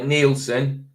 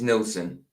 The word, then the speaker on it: Nelson: that's how it's spelled Dennis no Dennis Nelson not neelson Den it's Nelson like that the one above sandros is the correct spelling Nelson not Nelson Nelson everybody thinks it's Dennis neelson it's not it's Nelson